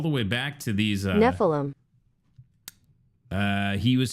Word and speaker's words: Nephilim: I always forget how to pronounce it, though. What, here we go. Nephilim.